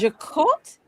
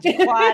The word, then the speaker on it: Jacot: So it's Jacot Delahaye. Okay, so I know I'm not going to. But now that we got that out the way, let's just go So on. y'all know the correct pronunciation. Y'all know what you got. But trust me, I was Jaquatting it. Like if y'all go and look at my Instagram, I got Jaquat, I got Jacob, I